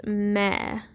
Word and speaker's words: me: flat next to it, it's going to be pronounced meh. It's still spelled like me, but you pronounce it meh. Me is actually spelled with an I.